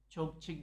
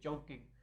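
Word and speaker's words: Chongqing: तो एक थी चोंगकिंग यूनिवर्सिटी, चोंगचिंग जिसे कहते हैं चाइनीज़ में, हम उसे प्रोनाउंस करते हैं चोंगकिंग।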